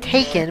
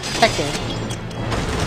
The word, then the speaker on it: Tekken: the first five Tekken I know usually pronounce it taken but my friend might need to do it at Tekken and then afterwards we